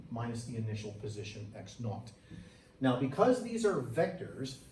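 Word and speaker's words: x₀: This is pronounced X naught.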